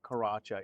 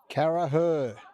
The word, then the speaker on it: Caraher: below tell me that it is not Karacha. It is so it's spelled Isaac's name. C A R A C H E R. So what is it ladies? Caraher. Caraher.